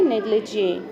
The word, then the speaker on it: negligee: इसकी प्रोनाउंसिएशन है negligee.